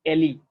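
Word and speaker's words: alae: इनको हम बोलते हैं विंग्स और एली, विंग्स और एली और एले। ठीक है, स्पेलिंग बता देता हूँ, एले ऐसा, इट्स नॉट एलगे, जी गायब है, एले और विंग्स।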